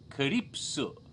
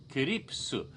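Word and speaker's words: Calpis: almost glowing color and in Japan it's called Calypso Calypso but they spell it on the label even in Japan in English letters see al p.i.s it looks like it reads cow piss what it's cow piss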